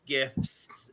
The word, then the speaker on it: GIF: gif guy is that how you say it gif yeah okay um I but I I think